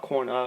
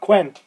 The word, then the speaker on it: Quen: Not Quinn, Quen.